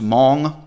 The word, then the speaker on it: Hmong: an indigenous people of southeast asia called the mong it's pronounced hmong but it's spelled h-m-o-n-g i would bet money